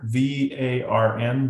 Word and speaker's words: Varn: V A R N. Varn. Almost like barn but varn.